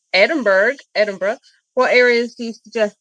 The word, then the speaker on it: Edinburgh: In addition to Edinburg, Edinburg. Edinburgh.